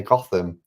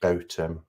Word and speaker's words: Gotham: and they're like oh look cool and they're Gotham. Um it's it's pronounced Gotham.